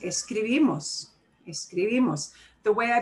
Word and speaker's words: escribimos: of that word uh words that end in uh vowels or n or s should stress the second to the last syllable so i'm putting the second to the last syllable in bold actually i should put